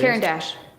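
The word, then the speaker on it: Caran d'Ache: Caran Dash.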